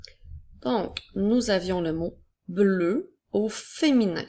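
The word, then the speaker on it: bleue: nous avions le mot bleu au féminin c'est pour ça que la dernière lettre la lettre E est une lettre muette alors le mot bleu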